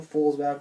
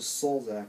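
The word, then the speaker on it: Sulzbach: It's MrRepzion, or it's not Daniel Folsback or whatever, it's Daniel Solzak, so, or whatever.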